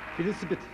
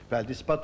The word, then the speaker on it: feldispat: Efendim, ikiniz yaklaştığınız zaman telaffuzlarınız hatalıydı. Filisipit. Burada tam doğrusunu almam gerekiyor. Onun için veremedim ve birer puan alıyorum. Doğrusu feldispat olduğu için birer puanlarınızı aldım.